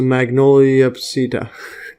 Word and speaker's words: Magnoliopsida: And then you have the class is going to be Magnoliopsidida.